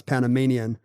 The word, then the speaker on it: Panamanian: that's what Panama does it should be panamian like Canadian and Bohemian but it's not the Panama Panama no it's Panamanian like because because we're we're